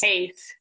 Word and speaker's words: Hase: Is it H-A-S, Hase or Hase? Hase.